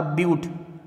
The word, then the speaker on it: ब्यूट: से मैंने क्या बोला, मैंने बोला ब्यूट, इसको बट नहीं बोलेंगे, ब्यूट लिखते हैं BUT, बट लगता है लेकिन इसको प्रोनाउंस करेंगे ब्यूट।